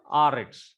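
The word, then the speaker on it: אָרֶץ: Now, according to the Hebrew rule, accent has been fallen on milel, that is next to the last syllable. Last syllable is rets. Last syllable, the root word is arets, or it is actually erets, but the inflected form is arets. Now, arets, if we see arets, so rets is the last syllable, and next to the last syllable is a.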